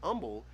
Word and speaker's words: Humble: he was english he he pronounced the h in humble differently as in he didn't pronounce it and so it was just humble from amul texas and so that's why everybody calls it humble because it was founded